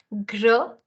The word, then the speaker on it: Grenoble: Grenoble. Grenoble. Grenoble. Right? That's another city in France. Next one I'm going to pronounce, again, this one is a.